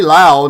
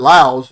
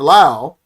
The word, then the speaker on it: Laos: And I say Laos, not Laos, because I saw that the other day. The guy says, "Oh, it's pronounced Laos." The S is silent.